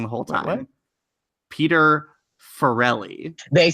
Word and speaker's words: Farrelly: it wrong I'm uncomfortable it's fairly the Farrelly Brothers know that's what I say cuz cuz my sister's name is Farrell and I'm pretty sure it's spelled the exact same a - the why so it's fairly is what I saw it so yeah it's not like there's one less L have you said there's